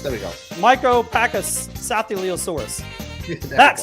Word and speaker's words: Micropachycephalosaurus: Micropachycephalosaurus. There we go. Micropachycephalosaurus.